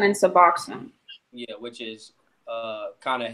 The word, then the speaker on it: Suboxone: What's the right pronunciation for it? Naloxone And Suboxone.